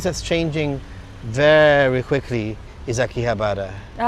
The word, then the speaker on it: Akihabara: I feel that um another place that's changing very quickly is Akihabara.